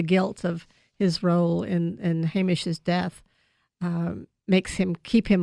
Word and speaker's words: Hamish: Hamish.